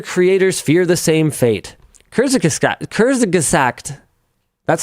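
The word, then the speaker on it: Kurzgesagt: Kurs Kurszact, that's how you pronounce it, right? Kurs Gazact.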